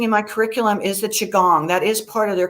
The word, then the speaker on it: qigong: was going to say the chigong chigong or shigong it's qigong it's spelled q-i-g-o-n-g and it's very similar